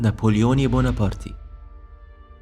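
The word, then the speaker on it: Napoleone Buonaparte: الساحل الإيطالي، فعشان كده كان النطق الصحيح لاسمه أول ما اتولد نابليوني بونابرتي. نابليون كان الابن التاني لعائلة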